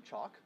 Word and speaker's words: CHOC: so we are here with Allie Reynolds from choc Children's Hospital of Orange County is that correct correct pronunciation of the acronym and then Sarah Hackett